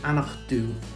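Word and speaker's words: Aonach Dubh: ger anoch and the last one charity is anak do the stunning backdrop of the three sisters have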